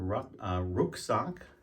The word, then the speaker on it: Rucksack: term rocking it comes from the German word Rook sock which is a backpack and then the Americanized pronunciation is Rock so when you hear people